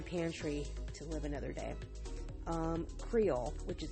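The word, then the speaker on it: Kreyol: Creole, which is spelled K-R-E-Y-O-L, by the Preservation Hall Jazz Band.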